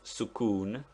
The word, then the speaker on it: sukun: is the use of sukun pronounced sukun that is with the italian it denotes the letter